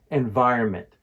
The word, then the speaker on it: environment: down the pronunciation of environment to ensure you're saying it correctly every time the key is to put stress on the second syllable VI in environment another